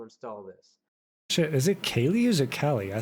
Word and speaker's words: Kali: Hang on, now I have to figure out how the fuck to pronounce this. It's Callie.